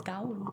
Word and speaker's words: Gaul: Why is there a U there? I don't know. You're not supposed to Gaul. Pronounce it. It's Gaul.